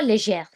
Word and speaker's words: légère: So whenever G is accompanied or followed by an E or an I in a word, it becomes je.